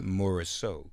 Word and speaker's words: Morisseau: also the playwright of Ain't Too Proud to Beg, Dominique Morisseau. Did I get it right? Yeah, you said it right.